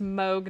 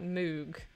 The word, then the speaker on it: Moog: Okay, Arden, but that pun doesn't work because it's pronounced Moog, not Moog. Ha.